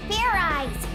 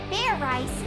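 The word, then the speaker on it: Fairize: I said it's not fair rice it's fair rice do it again and this time make sure you pronounce the Z let's do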